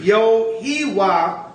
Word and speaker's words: Yahawah: God, the Most High, YAHAWAH, according to the ancient pronunciation. The ancient pronunciation would be Yahawah.